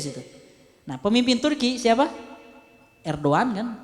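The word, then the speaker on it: Erdoğan: Erdogan kan? Erdogan bukan Erdogan, Erdogan dibacanya.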